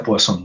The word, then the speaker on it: Poisson: Este nombre Poisson se pronuncia Poisson, ¿no?